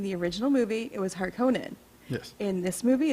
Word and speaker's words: Harkonnen: All right, I'm being picky of how you pronounce the last name because in the original movie it was Harkonnen. Yes. In this movie it's Harkonnen, and that took me out of the movie when I first saw it.